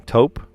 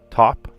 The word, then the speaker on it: taupe: I said, yeah, it's top, right? She said, no, it's taupe.